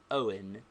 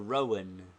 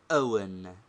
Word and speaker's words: Owen: is the consonant hemsa compare the bad pronunciation of Mr Owen by uneducated people they say Mr Rowan whereas the educated make a breathing pause and say Mr Owen 12 since the verb